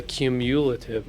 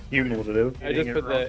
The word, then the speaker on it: cumulative: pay for has a cumulative upkeep of one join us next week as Jason continues to bastardize the English language is that all right cumulative yeah cumulative emphasis in the wrong syllable cumulative what I guess